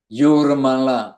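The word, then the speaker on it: Jūrmala: we'll be chanting Hare Krishna in Yurmala, spelled with a J, pronounced with a Y.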